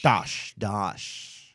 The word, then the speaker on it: Dosch: So we have a really funny guy, Dosch. Joe Dosch. Dosch. Yes. So funny. I couldn't pronounce his name right.